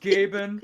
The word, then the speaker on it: Gaben: Gabon was sticking to his story, and as sly as I'm sure he was, It's Gay Ben? gay ban. I'm sorry, it's pronounced Gaben.